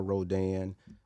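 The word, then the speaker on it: Rodin: from one Augusta Francois Rodan which is spelled r-o-d-i-n spelling uh pronouncing French Rodan uh one of my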